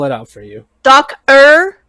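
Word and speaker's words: Docer: it out for you doc er like doctor but without the t yes without the t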